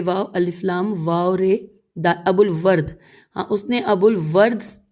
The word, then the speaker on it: ابو الورد: سے، اور اس نے حریری سے، اس نے ہجے کرتے ہیں الف بے واو الف لام واو رے ابو الورد، ہاں اس نے ابو الورد بن تمام سے،